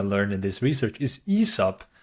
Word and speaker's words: Aesop: company we're gonna cover today and the correct pronunciation that's another thing I learned in this research is ESOP not ASAP as I've been calling it ever since I